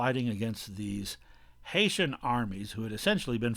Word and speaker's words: Haiti: it from saint-domingue to well in english it's pronounced haiti h-a-i-t in french it's pronounced iet the name